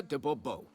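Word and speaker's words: Dubois: better yet as Msure Debo. Um, fine. Get to the point, missure. Fine. Mure debo. The emphasis falls on the last syllable.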